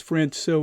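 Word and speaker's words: Francouz: Who will they keep using this 1A, 1B combination of Grubauer, and I believe it's Francois is how you say his name.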